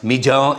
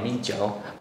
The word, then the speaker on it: Mijiu: So rice wine is pronounced Mijiu in Chinese. Is that correct, Father? Yeah, Mijiu.